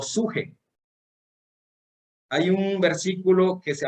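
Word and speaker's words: ψυχή: Hay otra palabra que empieza con P y se pronuncia upsuje. P y luego suje.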